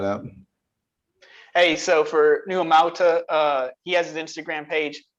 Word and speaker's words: Amauta: Would you like to maybe pronounce how your name is so I don't look silly? Yeah, it's Amauta.